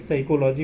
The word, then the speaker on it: psychology: PSALM शाम मतलब भजन, PSYCHOLOGY साइकोलॉजी मतलब मनोविज्ञान। MN में क्या साइलेंट रहेगा, N साइलेंट रहता है।